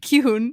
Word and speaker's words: Gi-hun: We've got the front man and we've got Gi-Hun. Did I say it right? Gi-Hun.